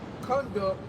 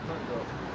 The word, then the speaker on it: conduct: It said to lead guide direct to lead through conduct to something to move not conduct conduct conduct to It's spelled the same but it's pronounced different pertaining to the meaning and context.